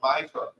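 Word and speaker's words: מַעֲשֵׂר: Means 10th in the Hebrew and is pronounced Ma'asher.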